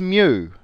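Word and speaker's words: μ: the next letter is me rhymes with Muse the pop band and Mew is also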